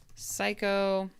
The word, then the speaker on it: psycho: Oh, actually, I think all of these are silent Ps. Okay. I think this might be a connection. Receipt, psycho, core, and coup.